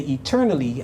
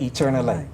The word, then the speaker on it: eternally: Now you would have noticed that when I pronounced the word at the end of line 13, I didn't say eternally, I said eternally. Scholars would tell us that in Donne's day, the 17th century, that's how the word was being pronounced, and that's why we could say it rhymes with die.